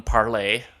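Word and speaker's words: Parler: including the new one, Parlay, which looks like it's spelled parlor, P-A-R-L-E-R, pronounced parlay from what they're telling me.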